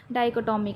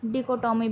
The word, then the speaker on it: dichotomy: Contrast को ही हम डाइकोटॉमी कहते हैं, या फिर इसकी प्रोनाउंसिएशन डिकोटॉमी भी कहीं कहीं बोली जाती है।